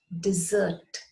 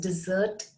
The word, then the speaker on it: dessert: And then we have the third word, which is pronounced dessert. Pronounced dessert again, but spelt differently.